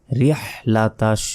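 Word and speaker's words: رحلة: second টান হবে ইলাফিহিম রিহ লাতাশ অনেকে এখানে ভুল উচ্চারণ করি রিহ লাতাশ বলি এখানে কিন্তু বড় হা রয়েছে ছোট হা নেই বলতে হবে রিহ গলার ভেতর থেকে এই বড় হাটি উচ্চারণ করতে হবে রিহ লাতাশ রিহ লাতাশ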